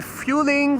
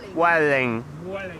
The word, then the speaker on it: Vueling: Yeah, some people say fueling, Vueling. It's Vueling.